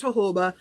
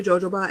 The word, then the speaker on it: jojoba: It's pronounced jojoba, but you can say jojoba and I won't laugh because that's what I called it for like 10 years before someone pointed out to me that the J's are H's.